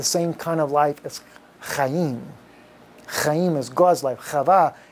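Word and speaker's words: חיים: Chaim is spelled simply like this. It's a chet yod yod mim. Chaim.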